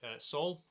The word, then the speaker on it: Saul: My name's Saul. Rhymes with Paul.